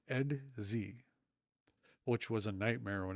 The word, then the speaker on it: Edxi: So the invading insect race that comes along later in the series, early and later in the series, um, spelled EDXI, is simply pronounced Edz, which was a nightmare